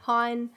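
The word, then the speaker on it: Hine: joined today by hein land and planning advisor for first guests uh so that was pine yes yeah not the tree rhymes with pine yeah it does ash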